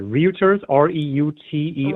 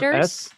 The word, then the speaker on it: Reuters: Uh, Miss uh uh uh Router um I don't know how to pronounce this word. Routers. Reuters.